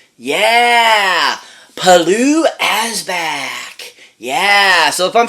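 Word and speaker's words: Pilou Asbæk: looks like to pronounce but it's palu p-i-l-o-u H as back and which the A and E are like one word because of where he's from it's it's an interesting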